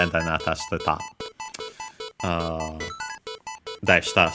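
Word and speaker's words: でした: Deshta, so yeah, the accent on the de, by the way.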